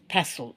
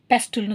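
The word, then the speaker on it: pestle: இந்த குழவிக்கு எப்படி சொல்லுவோம் பெசோ பி இ எஸ்டி எல் இ பெசோ பெசோ பெஸ்டல்னு சொல்லக்கூடாது பெசோ இந்த இடத்துல மாத்திரம் இந்த டி வந்து சைலன்ஸ் சைலன்ட்டா சொல்றோம் உச்சரிக்க கிடையாது பெசோ பெசுல் அண்ட் மோட்டர் மோட்டர்ன்றது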